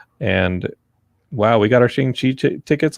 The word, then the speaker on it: Shang-Chi: And wow, we got our Shang-Chi tickets. Like, there's just a lot, guys. I have heard that it is pronounced Shang-Chi.